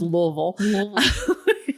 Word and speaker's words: Louisville: western music yeah um like he's the kind of guy who would be like louisville or like louisville and i'm like no it's just louisville now that when you have to say like you have marbles in your mouth yeah like a marble under your tongue louisville um but they were